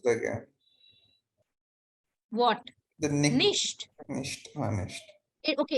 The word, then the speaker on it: nicht: Nicht. Nicht. Okay, it is pronounced as nicht.